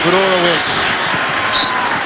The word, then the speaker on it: Fedorowicz: Base defense underneath Fedorowicz.